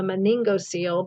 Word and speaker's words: meningocele: the meninges and so even the some words can be pronounced differently depending on what suffix or vowel is attached to it so this is a meningocele but meningoceles originate from